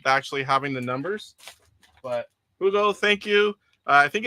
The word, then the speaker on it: Hugo: All right, next up, Hugo. And I wasn't pronouncing the H, but he says that's how his name is. I'm used to Spanish where H is not.